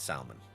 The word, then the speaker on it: salmon: The L is silent and salmon.